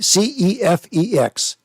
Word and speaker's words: CEFEX: C C E F E X. Charlie, excellent, Frank, excellent, X-ray. CEFEX. Oh, that's a really acronym Yes. It's pronounced there.